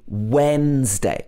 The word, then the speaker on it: Wednesday: but it should be wednesday it's got when at the beginning so the d is not pronounced at all i'll see you